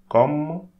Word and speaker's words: comme: Don't pronounce this E. Comme. Comme.